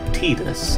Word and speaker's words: Tidus: love any variation of titus's theme that's an interesting question for everyone watching which pronunciation do you prefer titus ortiz because supposedly canonically it is supposed to be pronounced tedious and i just hate